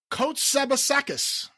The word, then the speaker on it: Kotsabasakis: This is an email sent in from Josh Kotsabasakis. What? He actually phonetically spelled out how I could pronounce his last name. Kotsabasakis. Apparently he failed.